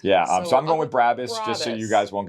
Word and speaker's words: Brabus: Okay, let's talk about Brabus or Brabus. However you want to pronounce it. I know that's how you were going to start. Yeah, however. Oh. Brabus would be the American accent, I think.